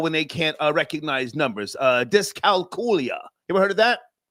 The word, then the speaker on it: dyscalculia: Dyscalculia. That's how you pronounce it.